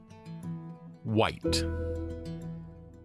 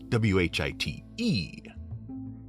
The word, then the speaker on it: Wight: color of the box w-h-i-t-e but the monster's name which is phonetically identical is spelled w-i-g-h-t it comes from an